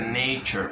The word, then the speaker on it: nature: Se pronuncia nature. Cuando se lee ture es chur.